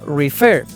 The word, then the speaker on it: refer: Refermina en ray cuenta, su sílaba tónica está en la última sílaba. Refer, refer, ref, no, ref, refer. ¿Notas la diferencia entre refer? Se nota que la tónica está la segunda, a diferencia de referir.